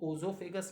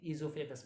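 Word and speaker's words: oesophagus: इसका another name है इजोफेगस। इज it clear? इसमें ओ साइलेंट है, ओ साइलेंट है, इसलिए हम लोग इसको ओजोफेगस नहीं पढ़ते हैं, इजोफेगस पढ़ते हैं, ठीक है।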